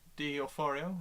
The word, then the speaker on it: D'Onofrio: They've got Vincent D'Onofrio.